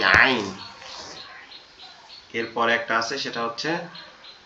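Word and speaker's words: ع: হাটা উচ্চারণ হয়েছিল কঠিন আওয়াজে এখান থেকে আইনটা উচ্চারণ হবে একই জায়গা থেকে আইনের আওয়াজটা কেমন হবে ওই হা এর মত এরকম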